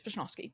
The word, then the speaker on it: Wishnowsky: I mean, it's Wishnowsky, but Well, what? it's like it's not a now.